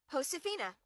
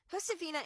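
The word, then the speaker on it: Josefina: Hosaphina. Hosaphina and her family speak Spanish, so the J will sound like an H.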